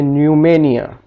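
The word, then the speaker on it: pneumonia: यहाँ पे पी के फौरी बाद एन आ गया है तो पी साइलेंट हो जाएगा। न्यूमेटिक, यहाँ पे न्यूमेनिया, यहाँ पे पी के फौरी बाद एस आ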